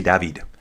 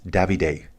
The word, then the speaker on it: Davide: If it'll load, I would say David. But I guess they pronounce it as Davide. So maybe B Flares can help with as well. Is that correct, B Flares? Is that how you guys pronounce David in Belgium? Is it always a Davide, or can it sometimes be a David? So the Unibet Titema coaches call him Davide.